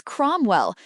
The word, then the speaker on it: Cromwell: Question two answer is Cromwell. Note ow sounds o.